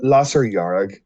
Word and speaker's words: Lasair Dhearg: a common theme um lasser yarag is the pronunciation okay i would have